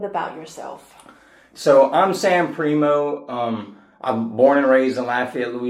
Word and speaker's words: Primeaux: I'm your host, Mary Bodin, and joining us today is Sam Primo. Is that how you pronounce it?